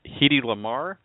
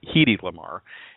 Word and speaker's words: Hedy Lamarr: He is the best-selling author and biography of Hedy Lamarr. It's, everybody says it's Hedy Lamarr, but she actually pronounced it Hedy Lamarr, and I didn't know that until the show.